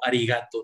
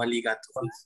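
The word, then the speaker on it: arigatō: Pensé que era con R como arigato, no aligato.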